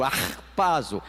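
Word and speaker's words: harpazo: Digam comigo, arpazo tem que ser um som gultural mesmo, como quem tá quando a palavra escarrando essa é a expressão, essa é a pronúncia.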